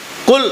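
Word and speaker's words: قل: குல் ஹுவல்லாஹு, குல் cough சொல்கிறது, காஃபுக்கு ரெண்டு வித்தியாசம் இருக்குது. பல பேர்த்துக்கு அந்த வித்தியாசத்தை பார்க்குறதில்ல. குல் அப்படின்னு சொல்லணும், நபியை நீங்கள் சொல்லுங்கள். குல்ண்டா நீங்கள் சாப்பிடுங்கிற அர்த்தம்.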